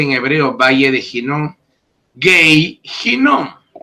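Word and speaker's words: גיא הנום: Gei Hinnom.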